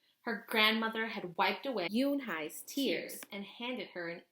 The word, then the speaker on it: Unhei: "Une?" the girl asked, scrunching her face. Oh, One," some kids chanted. No, Yoon-hai corrected. "It's Unhei. It's pronounced Yoon-hai." "Oh, it's you-hey," the boy said.